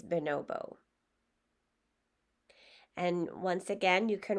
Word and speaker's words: bonobo: looked it up, and not everyone pronounces it the same way, but it looked like a common way to say it is bonobo.